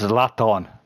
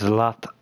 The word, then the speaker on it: Zlatan: It's not it's Zlatan. It's Zlatan. You couldn't fucking say it right.